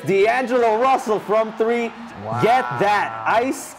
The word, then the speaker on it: Russell: It rhymes with hustle. And it's D'Angelo Russell from three.